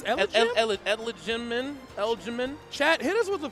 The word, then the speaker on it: elijmin: I think it's elijmin. Chat, hit us with the phonetics. We struggling over here. That's elijmin, elijmin.